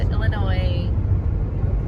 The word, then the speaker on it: Illinois: Welcome to Illinois. Do not pronounce the S.